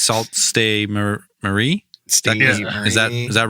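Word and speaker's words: Sault Ste. Marie: be the first American to be like it's salt stay Marie is that is that right yeah and just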